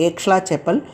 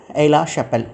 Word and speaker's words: Aix-la-Chapelle: came to an end with the Treaty of Aix-la-Chapelle. Usually people here they pronounce it's a Aix-la-Chapelle, but it is X is a silence in French. It's the name actually called Aix-la-Chapelle Treaty.